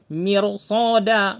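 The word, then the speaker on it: مرصادا: Jadi tebal mirs bukan mir bukan mir tapi mirsoda. Tebal pengucapannya.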